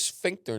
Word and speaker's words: sphincter: Yeah, but Trump can do that, and with his sphincter nerve.